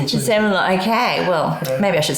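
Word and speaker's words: Sémillon: times as I have, saying it the other way is not very easy. So I say Semillon. Semillon, okay. Well, maybe I should say it like you. It sounds better. Semillon.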